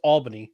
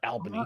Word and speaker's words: Albany: area of New York thank you for pronouncing it right by the way it's Albany not Albany I'm from the Northeast